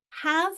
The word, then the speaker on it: have: And the reason for the silent E on that one is because we don't end a word in a V.